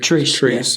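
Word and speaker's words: Treace: Treese is how you say his name.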